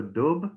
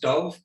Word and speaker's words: Dubh: it's a it's a it's a letter that doesn't really exist in english it's slightly somewhere between a b and a v i mean that's why